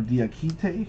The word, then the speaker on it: Diakite: Mamadi Diakite, or Diakite, that's probably the better pronunciation.